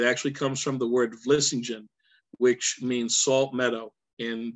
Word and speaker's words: Vlissingen: It actually comes from the word Vlissingen, which means salt meadow in Dutch. And there's actually a port city in the Netherlands called Vlissingen, V-L-I-S-S-I-N-G, G-E-N, Vlissingen.